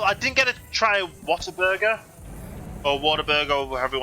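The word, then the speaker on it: Whataburger: didn't get to try Water Burger or water burer whatever you want to pronounce it I I would say what a burger that that would be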